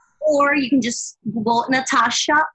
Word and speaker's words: Nathasha: you can just bolt Natasha remember there's a silent H after the tea and you can find